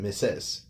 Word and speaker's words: Mrs.: It's actually pronounced it Mrs.